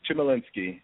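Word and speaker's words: Chmielinski: It's Chimolinsky. You got it. You did it well. Good job. Spell it, please.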